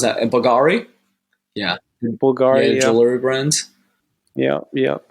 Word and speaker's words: Bulgari: How do you pronounce that? Bulgari.